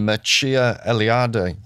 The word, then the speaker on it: Mircea Eliade: He's Romanian, Mircea Eliade, I think it's pronounced.